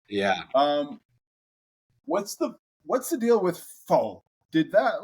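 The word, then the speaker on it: phở: But there's different ways to pronounce it. Pho or pho. Oh, that's like kind of the white American way to say it, I guess. But pho.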